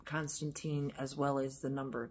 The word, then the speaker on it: Constantine: So, consider the name Con, C-O-N, Stan, S-T-A-N, Tine, T-I-N-E, Constantine, three syllables.